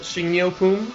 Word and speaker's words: 식료품: So it's pronounced 식료품, and it means groceries.